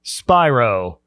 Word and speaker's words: Spiro: here by Mobile, Alabama native, Nashville-based songwriter, Danny Spiro. I said it right. You said it right, man. Yeah, when you were walking in, I'm like, you're like, oh, it's Spiro.